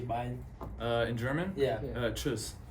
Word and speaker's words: Tschüss: Tschüss. Tschüss. Tschüss. Yeah. Tschüss. Yeah. Tschüss. Slam Nation in German would just be Slam Nation. Slam Nation. Okay. But in German, bye is Tschüss.